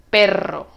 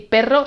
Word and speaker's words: perro: Prueba a pronunciar y ver si ves la diferencia. Caro, carro. Pero, perro.